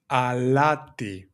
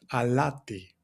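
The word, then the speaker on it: αλάτι: Alati. And the pronunciation goes like this. Alati.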